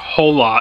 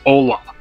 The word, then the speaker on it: hola: It's not Hola, it's Ola. You don't pronounce the H.